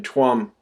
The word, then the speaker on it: Tuam: and babies in in tuam it's pronounced charm actually in Irish t-u-a-m Guam Ireland um